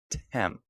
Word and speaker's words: Thames: Heading into Thamesville, spelled Thames. Tem.